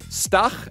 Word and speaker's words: Stach: Pronounce his name correct. He's German. Stach.